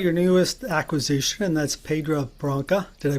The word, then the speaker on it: Pedra Branca: So let's talk about your newest acquisition, and that's Pedra Branca. Did I pronounce that right?